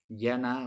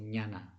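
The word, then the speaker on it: jñāna: el sánscrito se llama llana mañana se escribe j ñ a n pero se pronuncia diana o llana depende estos dos tipos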